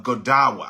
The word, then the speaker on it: Godawa: by this guy named Brian uh godawa I think that's how he pronounces this it's g o d uh a wa Brian GDA he says when a prophecy